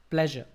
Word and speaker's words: pleasure: So that sound is j. So when we read this one, we don't read it as pleasure. We pronounce it as pleasure.